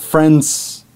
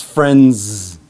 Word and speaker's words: friends: On the end, we have the z sound. So it's not friends, it's friends. It's an insect sound, z, friends.